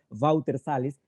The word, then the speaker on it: Walter Salles: escoger a los artistas, el director Walter Salles, así se pronuncia en portugués, Walter Salles, se preocupa con buscar la espontaneidad.